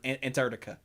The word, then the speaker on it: Antarctica: most common one like that second c just doesn't exist it's antarct antarctica but that's a normal